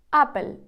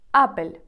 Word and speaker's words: Apple: напевно найбільш відомий бренд у світі Apple іспанською вимовляється як апель апель апель наступний бренд мене здивував тому що хоча